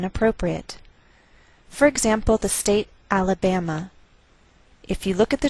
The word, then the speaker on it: Alabama: a lowered mark so the greater stress is on this third syllable we say Alabama Alabama what else is shared